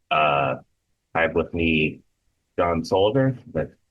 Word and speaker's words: Solleder: Um, Hey everyone, I have with me John Solleder.